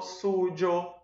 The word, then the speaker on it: suyo: formas plenas, mio, tuyo, suyo, nuestro, vuestro. Lembrando que esse Y aqui, a depender da variação linguística, no ano, eu posso pronunciar ele como se fosse um J. Eu posso falar tujo, sujo, ok?